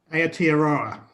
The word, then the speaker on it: Aotearoa: And now, correct me if I'm wrong in pronouncing this, Colin. It's Aotearoa? Aotearoa.